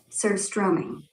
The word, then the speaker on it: Surströmming: Surstroming. The O is short, like in room, not like in do.